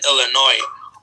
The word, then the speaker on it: Illinois: For example, if you say the S in Illinois or the P in pneumonia, you are making a mistake in pronunciation, regardless of how precisely you articulate the sounds.